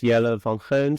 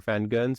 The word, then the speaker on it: Jelle van Geuns: Uh, my name is Yellow Von or Van Guns as they pronounce it here.